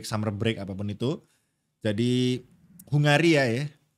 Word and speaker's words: Hungary: Jadi Hungaria ya. Tapi bacanya tuh Hungari, Pal. Sumpah. Kemarin Hungary, ya. Hungary ya, iya. Karena Crofty kemarin bacanya itu Hungary.